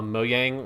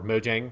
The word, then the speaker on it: Mojang: that they have handled a moyang or mojang depending on if you want to pronounce it how it's spelled or how all the people from the studio say it uh so yang studios